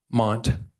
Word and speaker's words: Mondt: Is it Mondt? Mondt, yes. Silent, got it.